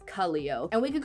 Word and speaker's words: Kaleo: At first I thought it was pronounced Kaleo, but I looked up how to pronounce it and apparently it's Kaleo.